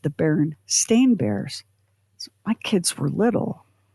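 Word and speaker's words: Berenstain Bears: When I remember the first time I saw, so I grew up with the Berenstein Bears, and I had gotten a bunch of Berenstein Bear books handed down to me from an older cousin.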